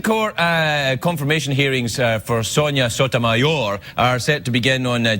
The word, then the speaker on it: Sotomayor: Well, Craig, Judge Sotomayor was born... Whoa, Tim. It's actually pronounced Sotomayor. Sotomayor.